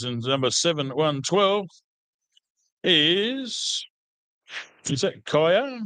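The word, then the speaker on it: Kiah: And another one of our females in number 7112 is that Kaya? K-I-A-H, Kaya? Is that how you pronounce it? Yeah.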